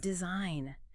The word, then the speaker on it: design: The silent G is just like a ghost in the English language. It is there in the history of the word, but it makes no sound today.